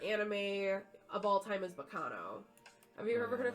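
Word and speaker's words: Baccano: Yes, I think it's supposed to sound Italian.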